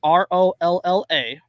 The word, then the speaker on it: Rolla Abdeljawad: At least that's what agents told Stillwater, Oklahoma resident, whose name I'm not going to try and pronounce because it would hurt me. It's Rolla Abdeljawad. It's that is Rolla Abdeljawad.